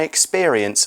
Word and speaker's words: experience: I'll never forget my experience of getting lost in Tokyo. Experience 在文章中呢当名词用，代表经历。那发音上要特别注意哦，这边的 p 我们念作 b 的声音 experience。那例句说啊，我永远不会忘记我在东京迷路的经验。另外呢，experience 也可以当作动词用哦，代表亲身体验的意思。So